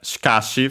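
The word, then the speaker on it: しかし: And yeah, the accent is on the ka. The first she is always barely heard if at all because it's between our voice consonants.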